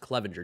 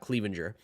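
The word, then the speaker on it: Cleavinger: year Garrett Clevelander Clevenger I think it's pronounced Clevenger not Clevelander Garrett Clevenger did well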